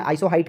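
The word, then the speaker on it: isohyet: कि बराबर वर्षा में हालांकि इसको इंग्लिश में आइसोहाइट कहते हैं स्पेलिंग है आई एस ओ एच वाई ई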